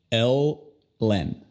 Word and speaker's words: Ellen: La primera L, ya que está en la final de la sílaba, es una L obscura. El. La segunda L es una L ligera porque está en el inicio de la segunda sílaba. Len. Entonces, Ellen.